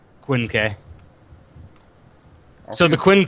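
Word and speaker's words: Quinque: just looked at it it's Quin K oh that's how you say it or is that like I I know that SP it's like I have no idea how to pronounce a q in G that's the romanization of it so Quinn K so the Quin K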